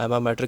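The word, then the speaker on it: alma mater: पढ़े हों उसको हम एमा मैटर कह रहे होते हैं। I guess this L is silent, तो उसको एमा मैटर हम कह रहे होते हैं।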